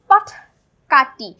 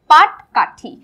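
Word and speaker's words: পাটকাঠি: পাট কাঠি। অর্থাৎ আমরা টয়ের জায়গায় ঠ উচ্চারণ করে ফেলি, মাঝে মধ্যে ঠয়ের জায়গায় ট উচ্চারণ করে ফেলি, পাট কাঠি না, কাটি না হয়ে হবে কি পাট কাঠি।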